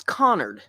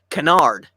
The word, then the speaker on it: Connard: a new teacher, and every year the new teacher would pronounce it Canard. Wow, and so we all got so that we were ready. We were ready. They pronounce it Canard, and like a chorus. Oh no! It's Connard.